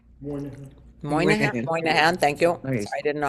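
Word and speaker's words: Moynihan: He counted Isaiah Berlin and Daniel Patrick Monahan among his friends. Moan Moahan. Thank you. I didn't know how to pronounce that.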